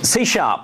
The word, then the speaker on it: C#: Okay, so C#, it's pronounced C#, and that's why I keep saying C#. It's interesting we have that on the slide. It looks like C pound is why.